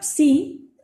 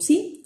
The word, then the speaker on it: psi: de los psicólogos, y es una consonante doble también, involucra el sonido P y el sonido S, ¿sí?